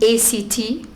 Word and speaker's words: ACT: google later and learn a ct we always pronounce it as act straight away not a ct but it stands for